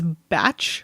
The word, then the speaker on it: Bach: Bach Flower Remedies where apparently the preferred pronunciation is batch Flower Remedies but it is spelled